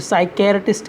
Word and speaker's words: psychiatrist: फिर साइकेरेटिस्ट की स्पेलिंग देख लें आप, साई पी साइलेंट रहता है, केयर CHI आएगा, ARTIST,